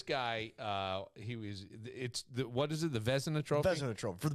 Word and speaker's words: Vezina: He won the Vezina Trophy.